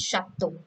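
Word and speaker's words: château: page only in french ch or cher always has the sound of sure as not as the cho starting with ch but its pronunciation is shatto so the basic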